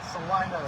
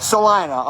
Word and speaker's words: Salina: The locals pronounce it Salina. Salina, okay, yeah, Salina.